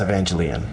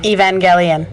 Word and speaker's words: Evangelion: it in English it's Neon Genesis evangelon okay Evangelion whatever yeah yeah he really